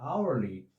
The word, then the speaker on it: hourly: Porque a palavra hourly, sendo derivada da palavra hour, o som inicial aqui é vocálico, porque o H inicial é mudo.